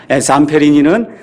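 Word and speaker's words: Zamperini: 잠페리니는 Z-C-A-M-P-E-R-I-N-I 이렇게 되어 있으니까 여러분이 유튜브나 아니면 위키피디아 백과사전 가서 보시면 이 미국 사람들은 잠페리니 이렇게 발음하는데 그냥 잠페린이라고 제가 이야기하겠습니다.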